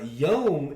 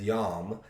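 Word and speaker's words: יום: to be honest uh yom is the hebrew word for uh day sometimes people pronounce yom as yam uh but even then they understand it's y o m when they're transliterating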